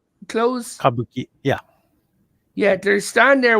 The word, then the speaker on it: Kabuki: Kabuki clothes? Kabuki.